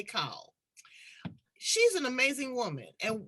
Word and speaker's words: Cahill: That's the Australian pronunciation, as we would say, Cahill, but they say Cahill.